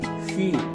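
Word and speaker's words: 許: 중국어로 이제 허라고 썼고 발음은 휘 이렇게 읽는데 약 뭐뭐쯤 가량 정도 이런 뜻을 나타냅니다.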